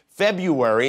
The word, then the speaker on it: February: Most people just drop the R, the first R, and say February instead of February, and as a result, they can't spell it either.